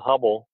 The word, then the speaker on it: Hubbell: just search uh hubbell h it's not spelled the same as edwin hubble it's h-u-b-b-e-l-l instead of l-e on the end uh you'll find those